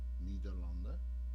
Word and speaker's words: Nederland: Because in the Germans say it right, Nederlanden, that's correct. Right. Nederland, we say it correct.